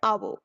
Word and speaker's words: hour: H here is silent. For example, an hour.